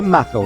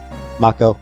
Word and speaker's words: Mako: I don't know if there's an official pronunciation. I think I think Remake and Rebirth calls it Macco. I'll go with Makco unless I slip up and call it Mako.